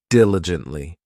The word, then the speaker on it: diligently: This adverb has four syllables and the stress is on that first syllable, diligently.